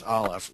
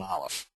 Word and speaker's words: aleph: aware of in English one of them is aleph which is not the sound ah it's the if I say uh if I pronounce like a lower class Englishman butter I would say but uh that sound in the middle is an olive it's a stop at the back of the throat just stops the air